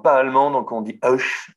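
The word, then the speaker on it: Höch: Alors, je ne parle pas allemand, donc on dit Hoch. Je vais prononcer à la française, c'est la seule façon de ne pas l'écorcher, donc ça va être ridicule, c'est Hoch.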